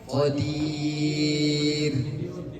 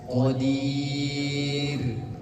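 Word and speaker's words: قدير: Qir qadir. Setelah sebelum huruf ro itu ada ya. Mana kita bahas nih. Ro sebelumnya adalah huruf ya sukun. Maka dibacanya tipis qadir bukan qadir. Ya. Saiin qadir tipis bukan qadir.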